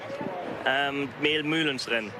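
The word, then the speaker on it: Mehl-Mülhens-Rennen: Or how do they pronounce it over there, Fred? Mehlmühlenrennen.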